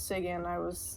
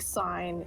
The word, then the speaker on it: Sigyn: Sigyn, and so I just changed it back to Shroom when I think before I knew that it was Sigyn, I said like sign in my head.